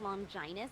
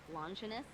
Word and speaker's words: Longinus: Speaking of the minister, I got to ask, why do you say longinus instead of longus? Because it is the proper way to pronounce it, though some regions say it the other way.